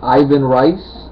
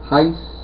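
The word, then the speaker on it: Ivan Reis: name of course uh Ivan rice Ivan Rus uh Heist I don't know Brazil they pronounce the RS like H's it's re e i s so however you would pronounce that he is he is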